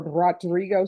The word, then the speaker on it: Rodrigo: Did somebody make an announcement in the hallway for Rodrigo Soto? And roll your R.